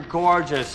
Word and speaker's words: gorgeous: for an actor anyway so the first syllable is the long or sound like floor and more Gore gorgeous just this dress is on the first syllable so don't say gorgeous make it shorter gorgeous Gorge gorgeous gorgeous